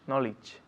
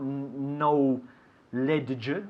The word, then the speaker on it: knowledge: Knowledge. Perfecto, estás imitándome perfectamente. Knowledge. Ok, so tenemos on time, season, land, retirement, and knowledge. Escúchalo bien, knowledge. Not no ledge or anything. Knowledge. Dos sílabas.